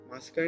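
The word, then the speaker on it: ます: But while pronouncing, the su is actually devoiced. It's pronounced as su, mas, des. Okay, so not like desu or masu.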